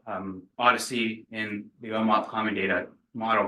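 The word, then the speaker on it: OHDSI: continuing conversations as well so Odyssey so it's pronounced Odyssey operational Health Data sciences and informatics so so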